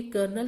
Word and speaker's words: Colonel: ये जो लिखा हुआ है ये कर्नल लिखा हुआ है, COLONEL। कर्नल की स्पेलिंग में कहीं पर भी आर नहीं आता है, so look it carefully and by heart it, okay.